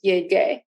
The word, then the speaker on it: llegué: busque, and llegar, GAR, changes to GUE to keep that hard G sound, gay, llegué.